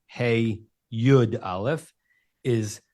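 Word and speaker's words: הִוא: spelled hey vav aleph, but it's definitely he, not who, because we know it's feminine, and we have no received tradition of it ever being pronounced heave.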